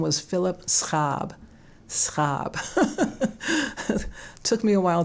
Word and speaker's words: Schaab: my late husband his his name was Phillip scab scab took me a while to learn to pronounce that so in in the United States